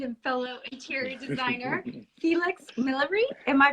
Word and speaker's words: Millory: my sweet friend and fellow interior designer Felix millery am I pronouncing that correctly yeah that's I like the the English white it's nice it's millery but it's very French um so really nice